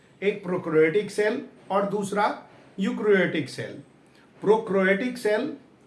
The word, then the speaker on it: eukaryotic: Difference between प्रोकैरियोटिक cell प्रोकैरियोटिक एंड यूकैरियोटिक। इसमें ई जो है ना, वो आपका साइलेंट है। ई क्या है? साइलेंट। ई यू प्रोकैरियोटिक और यूकैरियोटिक।